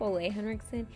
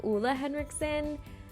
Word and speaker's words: Ole Henriksen: I think I said like Ole Henriksen. It's actually Ulla Henriksen. I pronounced that wrong.